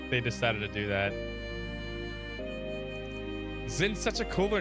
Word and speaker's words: Zin: Yeah, but in the Sky games, if you listen to the Japanese voice acting, they call him Zin. It's never pronounced Jin. It's pronounced Zin.